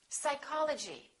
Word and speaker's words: psychology: Psychology.